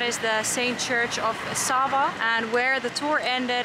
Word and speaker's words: Sava: attractions to see here apparently I said it wrong it is the church of Saint Sava not I don't know what I said saint Saba of the church I don't know but